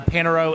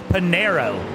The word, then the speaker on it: Panero: Um Daniel Panro is in as well. Um I feel like I'm saying his name wrong still. Panero. There we go. Daniel Panero who gets the panini at Panera um is in as well.